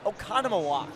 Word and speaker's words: Oconomowoc: ladies and gentlemen but that I gave Gavin Oconomowoc Oconomowoc very interesting Wisconsin names are much more difficult to pronounce than Central Illinois like Washington nice and